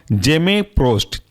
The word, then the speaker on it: Gemeprost: दूसरा एग्जाम्पल है आपका जेमेप्रोस्ट। स्पेलिंग है GEMEPROST।